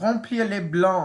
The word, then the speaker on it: remplir: do this exercise exorcist fill in the blank rom pl that's how you say it in french so for this one